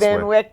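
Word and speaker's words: Van Wyck: Is it How do you pronounce the van? Finish it. The Van what express? Van Wick.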